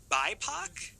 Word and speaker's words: BIPOC: and to me and i don't know if i'm saying it right to be quite frank bipoc that is exactly what i say perfect so i i like